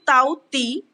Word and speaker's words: Tauktae: This is the cyclone is the ताउक्तई. अब ताउक्तई कहाँ से लिया गया? This is pronounced the ताउती also और हम इसे ताउती के नाम से भी जानते हैं.